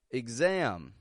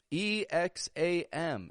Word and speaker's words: exam: Why is X sounding like igs? Because it is starting the unstressed syllable. And so we don't pronounce a full eggs, otherwise it would sound stressed. And so we give it a quick and quiet igs, igs.